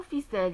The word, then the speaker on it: ficelle: Dans le mot ficelle, il y a le E. Donc on va prononcer en S.